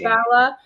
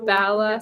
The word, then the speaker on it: Bala: And we clarified it's pronounced Bala. We talked to locals and made sure it's Bala.